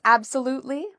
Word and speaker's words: absolutely: So how do we pronounce absolutely? So the stress is on the third syllable. We would say absolutely. So there's 4 syllables in total.